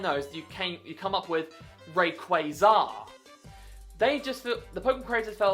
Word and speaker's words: Rayquaza: This is a Rayquaza, not Rayquaza. If anyone calls it Rayquaza, you're going to meet a very unhappy chappie waiting at your front door. It has always been pronounced Rayquaza in the anime. Never once was it called Rayquaza. Literally, its name is a fusion of Ray and Quasar.